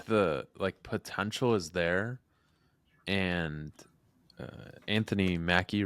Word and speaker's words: Anthony Mackie: I think the potential is there, and Anthony Mackie, right?